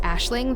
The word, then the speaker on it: Aisling: The name's pronounced Ashling, though it's spelled Aisling, and I gotta give my character a nickname, so everyone meet Ash.